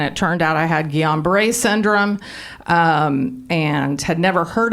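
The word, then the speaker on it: Guillain-Barré: shepherd center um that i couldn't pronounce it for a long time i kept calling it gillian beret he goes there you're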